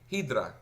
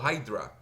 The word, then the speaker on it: Hydra: Un ataque de diccionario se usa una herramienta, por ejemplo, una que se llama Hydra, ¿sí? O Hydra. Eh, y se escribe así.